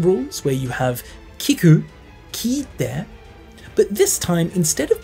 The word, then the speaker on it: 聞いて: It's like a long i sound, ki-ite.